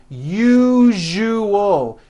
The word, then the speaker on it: usual: syllables you jus oh that second syllable jus the one with the underline needs to be voiced put your hand on your throat and feel for the vibration in the second syllable you jus Oh now